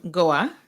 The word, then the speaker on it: Goa: talk a little bit about where you're from goa that's the correct way to pronounce it yes is an island correct it's